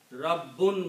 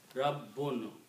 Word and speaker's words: Rabb: If we stop and don't say the full word, we should say Rabb. We should try to pronounce Ba twice. A lot of people just say Rabb. That's no word like Rabb.